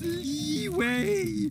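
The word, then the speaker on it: Liyue: be up or what it's pronounced leeway we waste your time with side content like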